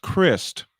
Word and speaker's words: Crist: It's pronounced Christ, correct? His last name?